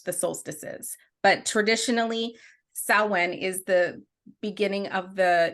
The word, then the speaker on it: Samhain: tease you but it it's actually spelled like Sam Hayne it's weird it is so it's spell it said so different than what it looks like so nobody can blame